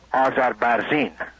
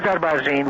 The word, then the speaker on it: Azarbarzin: Now, one of those Air Force generals was Air Force General Shapur Azarbarzin. Is S-H-A-H-P-O-U-R, and his last name is spelled A-Z-A-R-B-A-R-Z-I-N.